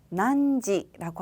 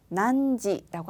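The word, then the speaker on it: 何時: 난지라고 하는데요.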